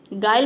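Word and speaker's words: guile: pronounce नहीं करते हैं गायल मतलब होता है छल कपट गायल में देखिए यू के बाद आई आया है तो इन पांचों लेटर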